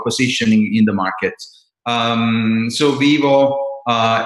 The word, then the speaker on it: Vyvo: The brand it's pronounced vyvo.